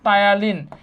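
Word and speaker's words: ptyalin: তাই না কি আছে টায়ালিন টায়ালিন টায়ালিনের ইংলিশ নামটাও কিন্তু জানতে হবে টায়ালিন টায়ালিন পিটা কিন্তু আমাদের এখানে সাইলেন্ট টায়ালিন ঠিক আছে টায়ালিন আর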